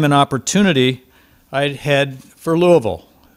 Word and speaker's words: Louisville: Army, stationed at nearby Fort Knox, and when I had the time and opportunity, I'd head for Louisville. You hear, I think, the correct pronunciation of that city.